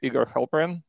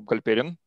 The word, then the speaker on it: Halperin: so with us today igor halperin uh or galperian uh that's the correct way to pronounce it uh a research